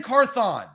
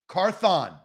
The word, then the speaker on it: Carthon: okay because so Ran carthon So let's let's let's settle Ryan Carson yeson carthon Garth not carthon green carthon car then say thought on now slowly say car Thon car Thon that's it hey I'm Ryan carthon